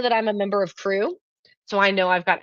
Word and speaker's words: QRU: It's inside crew." By the way, Quilting Rockstar University, the acronym on that is QR. I've declared it to be pronounced crew.